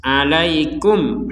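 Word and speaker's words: عليكم: nah sebagaimana dijelaskan sebelumnya Kalau mim sukun yang sukunnya tertulis maka mim itu dibaca dengan jelas alaikum hujjah nah seperti itu kemudian yang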